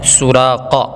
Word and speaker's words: سراقہ: سراقہ بڑا قاف ہے, سراقہ.